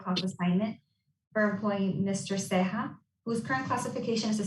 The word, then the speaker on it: Ceja: Thomas, okay, I know the J is like an H, so I'm not going to butcher this one up, but it's C-E-J-A.